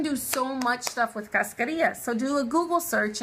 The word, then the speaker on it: cascarilla: One thing that really amazes me is that people do not use cascarilla. How do you spell that? C-A-S. No, am I right? C-A-S-C-A-R-I-L-L-A.